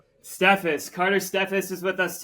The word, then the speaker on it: Steffes: you how do you say your last name stus stephus Carter stephus is with us today and we've